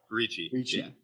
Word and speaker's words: Ricci: how do you say your last name richard richie ricci um and we kind of met like what